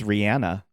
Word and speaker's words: Rihanna: wakanda forever from Rihanna Rihanna we say her name wrong we do we do the right the world does oh shoot it's Rihanna oh yeah that sounds